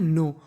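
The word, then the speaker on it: know: देखिए ये हमारी मीनिंग है नो, और आपको एक चीज़ याद रखनी है, अगर आपको कभी एन से पहले के लिखा मिल जाए तो हमें के का उच्चारण नहीं करना होता।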